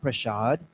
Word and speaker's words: Prasad: the full name is we say around Prasad in Guyana but they the correct the correct pronunciation supposed to be Ram prashad right Ram Prasad one